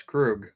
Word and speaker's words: Krug: wrong all the time uh tori krug yes krug he's on your damn team you can't pronounce his name right i can't pronounce my